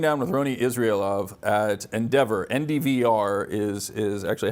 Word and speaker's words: NDVR: And we're sitting down with Roni Israelov at Endeavor. NDVR is actually how it's spelled.